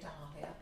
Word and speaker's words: dahlia: called dahlia dahlia um it's funny how we pronounce it isn't it i say dahlia doll yeah that sounds posh dollar this one's a